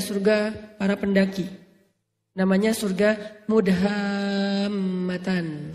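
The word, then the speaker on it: مدهامتان: Namanya surga Mudhammatan. Bacanya juga harus panjang karena dia rimbun banget. Sehingga bacanya Mudhammatan.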